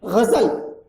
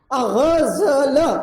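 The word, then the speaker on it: ग़ज़ल: गजल, गजल, ये उच्चारण इसका एक सौंदर्य है, उस भाषा का वो सौंदर्य है।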